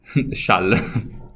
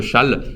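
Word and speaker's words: Chasles: Chal. J'avoue, la lecture de ce nom, c'est pas la meilleure au monde, hein, mais ça se prononce Chal.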